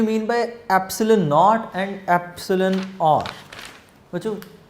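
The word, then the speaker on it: epsilon: इस वर्ड को जब आपने प्रोनाउंस करना है, ये सिंबल है एप्सिलॉन, एप्सिलॉन, ठीक है, एप्सिलॉन नॉट and this is एप्सिलॉन आर।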